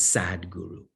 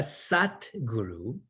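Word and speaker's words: Satguru: Please do not pronounce it as sad guru. You all need a sad guru in your life. You already have one. A sat guru in Sanskrit is a sadguru.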